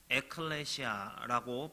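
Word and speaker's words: ἐκκλησία: 교회란 무엇일까요 교회가 뭘까요 자 교회이 헬라어로요 에클레시아라고 발음을 하는이 단어는 복음서 중에서요 마태복음에서만 유일하게 사용하고 있는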